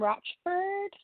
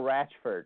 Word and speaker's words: Ratchford: Hey, I know Ratchford. That's how you say his name.